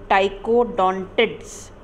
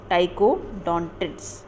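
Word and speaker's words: Ptychodontids: रैम्फोडॉप्सिस, और दूसरा है टाइकोडोंटिड्स, टाइकोडोंटिड्स, ओके. टाइको में ध्यान रखना पी साइलेंट होता है, इसकी स्पेलिंग में ध्यान रखें आप.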